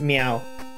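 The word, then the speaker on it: Myau: The character is a talking cat, and the character's name is Meow. Not even slightly joking, that is the name of the character. It is spelled M-Y-A-U.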